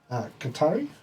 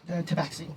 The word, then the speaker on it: Tabaxi: Qatari, I don't think that's how you say it, which is Tabaxi.